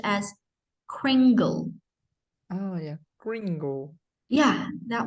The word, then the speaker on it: Kringle: carefully crunched on candy canes this word it's pronounced as Kringle oh yeah Gringo yeah that one Gringo yes